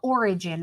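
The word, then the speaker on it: Orijen: basically yeah we use it's called origin it's spelled weird it's like o-r-i-j-e-n and you buy it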